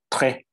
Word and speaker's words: très: Très, very. You don't pronounce the S at the end. It's just très.